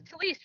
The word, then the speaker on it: Talise: Yours is Talise, right? Talise. With a sh sound or a sound? Shh.